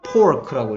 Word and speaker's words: pork: 얘는 Pork라고 읽고요. Pork. 얘는 Pork. 얘는 Fork. 헤이, 얘는 아닌데 다른데요? Pork. Fork, pork, fork.